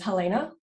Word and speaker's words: Helena: it okay so i uh my name is helena good job on pronunciation um i'm an online fitness coach so